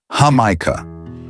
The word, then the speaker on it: jamaica: Or try Yugo de Jamaica, a deep maroon colored juice made from boiled hibiscus leaves. Remember to pronounce it hamika.